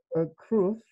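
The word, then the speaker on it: crwth: I call it the kurth. You could call it the kruth or a kurth. lots of different ways of pronouncing this.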